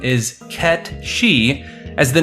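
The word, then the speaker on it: Cait Sith: true pronunciation this name is often confused as Kate Sith due to how it's spelled however it's true pronunciation is KET shei as the name is Scottish gelic which means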